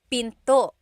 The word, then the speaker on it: pinto: Door in Tagalog is pinto. Pinto. And remember, don't forget the glottle stop. Don't forget to stop the sound at the end.